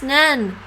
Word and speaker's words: 年: 年 It's pronounced Nen.